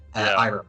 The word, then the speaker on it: Iroh: I don't know how to pronounce his name. Uncle Iroh, did you say? Iroh, like, yes.